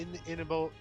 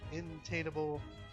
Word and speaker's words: inimitable: Known as to men and women the world over, the, in, the intimidated, the intimidable, the inimitable, intainable, inimitable, intable, intable, I-N-I-M, so it's intainable.